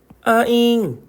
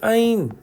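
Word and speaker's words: anh: 천천히 우리가 배우면서 우리가 제가 알려 드릴 거고 일단 우선은요 NH는 문자표에는 여라고 이제 녀라고 읽는다고 되어 있지만 실제로는 어떻게 읽는다고요? 잉이나 인으로만 읽어요. 그래서 자 보세요. 아잉 아니면 아인 요렇게 요렇게 자 요게 근데 중요한 건 아잉이라고 읽기도 하지만 요건 아인이잖아요.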